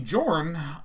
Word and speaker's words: Jorn: Should be pronounced Yorn? It probably should be, but I think Jorn is way funnier sounding.